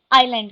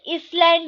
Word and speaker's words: island: सो ऐसी जगह को हम आइलैंड कहते हैं। ठीक है, इसे इसलैंड या आइसलैंड कोई नहीं पढ़ेगा, इसमें एस साइलेंट होता है, स्पेलिंग में होता है लेकिन हम इसे पढ़ते नहीं है। ये है आइलैंड।